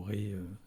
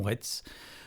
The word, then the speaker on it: Retz: Ré ne savent pas que le mot Ré se dit Ré et non Retz.